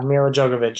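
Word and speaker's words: Milla Jovovich: How do you pronounce her name? Mila Jovovich? Yeah, Mila Jovovich, yeah.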